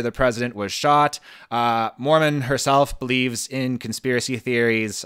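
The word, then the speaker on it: Moorman: to bring it up it is called the Mormon photo not Mormon like the religion uh but and not Mormon like I need more men how do you spell it m o o r m a n yeah so this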